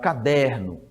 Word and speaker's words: caderno: Então olha o caderno Então veja que você vai prolongar a sílaba em der então é é uma a sílaba forte não é a última é é a penúltima fazendo dessa palavra uma paroxítona tá bom uma paroxítona